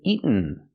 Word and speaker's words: eaten: Let's practice with eaten. Pronunciation. In America, you can say eaten, but normally we don't. We say eaten. Make the stop T and go to the end directly.